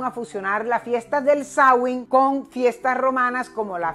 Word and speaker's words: Samhain: de un antiguo festival Celta llamado sawing lo estoy pronunciando en lengua gaélica porque me estoy remontando